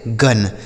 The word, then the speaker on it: gun: GUN इसे पढ़ेंगे गन। तो आप देख रहे हैं ना कि सारे जगह यू का उच्चारण क्या हो रहा है?